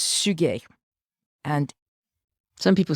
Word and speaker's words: Suger: name was abe suge it's written like sugar s-u-g-e-r but it in fact is pronounced suge and some people say xuja i know i just